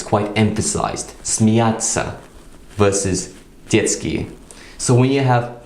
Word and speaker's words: детский: We can take a word like детский, which is spelled d, y, t, s, k, и краткая. Детский, which basically means childish. Now in a word like детский, the t sound is quite short.